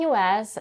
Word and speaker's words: U.S.: But in some cases, when the U.S. is used as an adjective, and when the primary stress of the next word is on the first syllable, the stress pattern can be reversed.